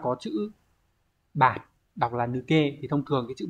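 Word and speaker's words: 抜: Số 1 này chúng ta có chữ bạt, đọc là nuke.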